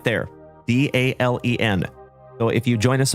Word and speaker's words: Dalen: So remember, folks, my name is Dalen, D-A-L-E-N, like Dale plus N.